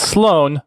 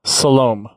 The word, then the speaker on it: Salome: It's Salome. Salome is the AI's name. Okay. Not Sloan, Salome.